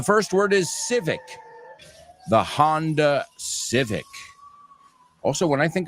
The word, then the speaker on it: Honda: the year 1948, the Honda, you say Honda? Vosotros no pronunciáis la H, ¿no?